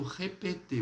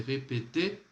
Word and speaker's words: répéter: Na questão aí do repetir, você não vai colocar repetir, tá? Você não vai falar repetir, não. Esse R aqui, ó, muet. Então, vous pouvez répéter, s'il vous plaît, dessa forma, tá?